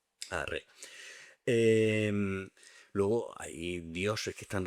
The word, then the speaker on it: Ra: Bueno, que los crucigramas tienes que poner Ra, pero en realidad se pronunciaría más parecido a rey.